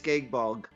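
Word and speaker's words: Gáe Bulg: It's gay bulg.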